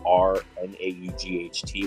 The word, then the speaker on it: R naught: an R naught is it's R to the zero power but it's r n a u g h t when it's spelled out